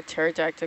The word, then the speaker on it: pterodactyl: What does it sound like when a pterodactyl goes to the bathroom? Nothing. The P is silent.